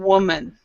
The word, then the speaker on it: woman: Remember, women and woman. Women is plural, so it's more than one. Okay, and then woman is one. When there's one woman, several women. Women, woman.